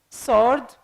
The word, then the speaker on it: sword: now the word sword sword the W letter can't be pronounced Castle Castle which means